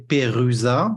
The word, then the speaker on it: Perusa: Usually you would say Perusa, like Peru and satellite, but in a French pronunciation.